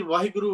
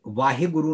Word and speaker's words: वाहेगुरु: खुश दहन के 80 वाहेगुरु वाहेगुरु क्यों करिए कि जब तक सी के गुणों समझाने लगे सवाल है कि बच्चे खुश है में वृद्धि आदि कब्ज पैदा शुद्ध उच्चारण करेंगे वाहेगुरु नहीं वाह गुरु जी कि गुरुवार को